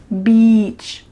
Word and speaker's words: beach: But make sure that when you pronounce it, you say E, beach.